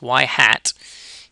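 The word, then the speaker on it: ŷ: Y hat, this is how we pronounce this, y hat equals A plus BX.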